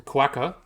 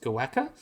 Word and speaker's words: quokka: a cutie uh the quacker oh well the quacker is pronounced goaka and is from the local Aboriginal word the